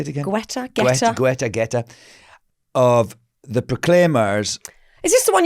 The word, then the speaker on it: Guetta: Guetta.